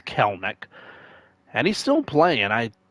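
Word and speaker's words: Kelenic: Yeah, it's uh Keleneck is pronounced. I thought it was like Kell Kellen Neck or you know that sort of thing. It's Kelneck and he's still playing.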